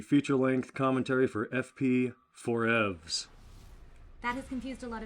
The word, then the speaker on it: 4EVZ: here for the feature length commentary for FP Forevs. That has confused a lot of people. Yes, I liked how they pronounced it here in Australia, FP4EVZ. And Yes, it's like, EVZ. no, it's for Forevs, like forever.